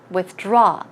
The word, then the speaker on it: withdraw: money one more withdraw withdraw stress goes right here withdraw money you could